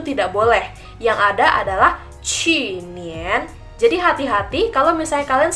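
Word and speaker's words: 去年: Tapi kalau misal tahun kemarin kita bacanya qu nian.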